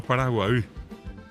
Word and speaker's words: Paraguay: guaraní el propio nombre de Paraguay que bien pronunciado Paraguay y hasta ahora la gente dice hasta Paraguay